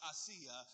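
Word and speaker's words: Aasia: poison and her name her name is a-a-s-i-a I believe it's pronounced asea Bibi yeah she's from Pakistan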